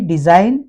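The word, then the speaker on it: design: ये तो सिग्नेचर की स्पेलिंग में ये बीच में आता है, तो यहाँ पर भी डिजाइन जी को नहीं पढ़ा जाएगा, साइन नहीं पढ़ा जाएगा।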